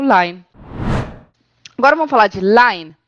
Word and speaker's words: lein: Só que, atenção, a gente também tem outra palavrinha que a gente pode colocar no final para fazer diminutivos, que é o line. Se escreve L-E-I-N, tá?